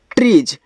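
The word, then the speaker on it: trees: इस तरीके से ट्रीज अब देखो टी आर से आपका ट्र बनता है। यहां पे त्र मत बनाइएगा क्योंकि टी केवल आपका ट बनाता है इंग्लिश में। तो टी आर से आपका ट्रा ही बनेगा। त्र नहीं।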